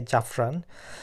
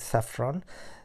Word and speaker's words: saffron: স্যাফরন মানে হলো যে আমরা বাঙালিতে অপরভংশতে আমরা যেটা উচ্চারণ করি যে জাফরন আসলে সেটার সঠিক উচ্চারণ হবে স্যাফরন স্যাফরনটা যে সাধারণত আমরা